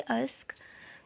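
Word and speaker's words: Usk: अस्क की spelling आपको कहीं कहीं पे ISCA भी देखने को मिलेगी, तो दोनों स्पेलिंग ही सही हैं और इनका बस प्रोनाउंसिएशन एक है, अलग अलग स्पेलिंग्स हैं बट प्रोनाउंसिएशन एक ही है अस्क।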